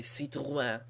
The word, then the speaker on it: Citroën: So here we got Denise Van Leeuwen in the number 85 car in Citroën. Citroën. That's how John Cialdino would pronounce it. In French they would say Citroën.